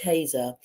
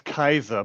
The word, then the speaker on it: Kaiser: be talking to ker have I pronounced your surname correctly the with a German name so it's Kaiser but Ka don't worry